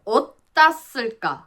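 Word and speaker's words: 어따 쓸까: Nếu là "Eo tta sseul kka" thì mới là đúng chuẩn phương ngữ... Nhưng thực tế, người ta hay phát âm ở giữa giữa như vậy. Họ phát âm kiểu giữa "tta" và "jja" trong "eotta".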